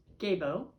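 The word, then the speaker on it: Gebo: this last time, that it's so not like a G that in itself will make it a association. Who knows? But the letter's G. The pronunciation is Gabo.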